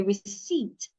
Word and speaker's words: receipt: Don't say receipt. The P is silent. Say receipt.